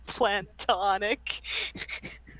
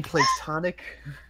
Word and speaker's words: platonic: This one made Aeon crack up when I said plantonic. Plantonic. You mean platonic?